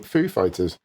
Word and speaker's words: Foo Fighters: another stab at pronouncing Foo Fighters back in 2003 the pop fiction star introduced the band on SNL putting the emphasis on Fighters rather than food in a 2017 interview